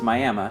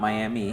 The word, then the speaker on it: Miami: Now, it's Miami, not Miami.